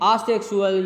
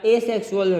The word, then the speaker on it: asexual: topic में पहुंचते हैं आ सेक्सुअल या एसेक्सुअल रिप्रोडक्शन दोनों प्रकार से लोग इसे प्रोनाउंस करते हैं आ सेक्सुअल भी पढ़ते हैं और एसेक्सुअल भी पढ़ते